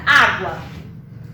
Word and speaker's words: água: Então, por exemplo, quando eu pronuncio a palavra água, eu consigo ouvir o A, GU, eu consigo ouvir o G e o U, e eu consigo ouvir o A.